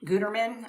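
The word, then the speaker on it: Gütermann: in any sewing project I always use Gutterman Gutterman I guess is how you pronounce it I use the all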